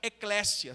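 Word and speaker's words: ἐκκλησία: ter ouvido essa palavra a palavra grega significa Eclésia se escreve com e k k e Eclésia sabe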